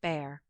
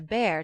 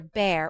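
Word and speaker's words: Bhaer: at his horrid name it isn't pronounced either bear or beer as people will say it but something between the two as only germans can give it i'm glad you both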